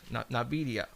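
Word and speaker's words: Nvidia: the N na Navia I believe it's called Navia um it's a they they are uh and it's it's spelled n is a Nancy i v i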